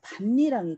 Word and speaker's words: 밭이랑: 근데 이거 뒤에서 다 뭐 또 설명할 게 있는데 여기 빈자리에 니은이 들어가요. 뒤에서 설명할 거예요. 그래서 반니랑이 돼요. 니은 첨가라고 합니다. 그리고 나서 디귿과 니은이 만나서 비음화까지. 그래서 반니랑. 자, 비음화까지 일어나서 결국 발음은 반니랑이 돼요.